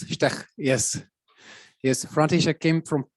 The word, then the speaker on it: Štek: He's František Štek. Am I pronouncing it correctly? No. More or less. Štek.